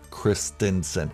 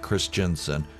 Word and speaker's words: Christensen: said his name right christinson not chris jensen sorry guys everybody's mispronouncing it and it's driving me crazy but if you're into